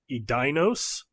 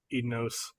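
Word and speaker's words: Edeinos: except for Ross Watson who I believe he said it like edinos maybe um until everybody else said it and then he's like okay it's ednos I will pronounce things incorrectly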